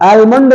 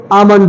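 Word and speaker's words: almond: है अमंड होता है आलमंड ना होके अमंड होता है ओके अगला है पी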